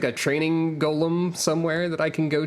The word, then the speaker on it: Golem: go to a training Golem they very specifically pronounce it Gollum all the time yeah if you